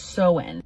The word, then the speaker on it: Samhain: Halloween, before it was Halloween, was called Samhain, pronounced Samhain.